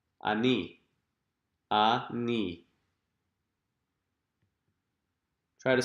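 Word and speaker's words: אני: Or the word for I, ani.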